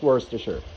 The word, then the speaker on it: Worcestershire: tablespoons of worcestershire sauce yes that's how it's pronounced it's worse to sure all right so get that in there i